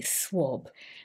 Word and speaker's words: swab: swab swab or swab it's not an a sound even though we write it with an a english is funny like that we don't always pronounce things as we write them but it's actually swab